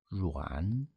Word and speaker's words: 软: 软. 软. It's the third tone, falling and rising tone.